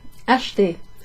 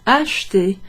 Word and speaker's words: acheter: Acheter. Acheter. Acheter. Sometimes you hear that verb pronounced acheter with 3 syllables. Acheter. But often it's acheter. Acheter. In fact, it sounds like the letter H.